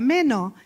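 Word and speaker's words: μένω: palabra que utiliza permanece es meno así se pronuncia meno Y qué se A qué se refiere esta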